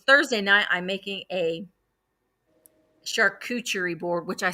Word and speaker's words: charcuterie: And y'all, if you have not been to Aldi's has an amazing, okay, Carrie said, charcuterie board. Charcuterie board. That's how it's pronounced.